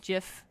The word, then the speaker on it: GIF: we also give but the guy who invented that wanted it jiff and I'm like if you wanted to Jeff you should just both it with a J oh wait a minute